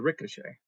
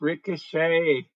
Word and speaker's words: ricochet: It's called the ricochet. And that's not how you spell it. It's bulletproof. It's ricochet.